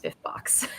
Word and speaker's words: SPFBO: giggle uh where's Joe he's very invested in it being pronounced spiff box so he needs be here JC it has to be pronounced that way like it has to be it must it must be which Philip is also